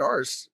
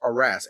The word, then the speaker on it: arras: No, it's not arse. It's Arras.